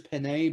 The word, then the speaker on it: Penei: It could be I've heard some people pronounce his first name Penny. I'm pretty sure it's Penei, but I don't know.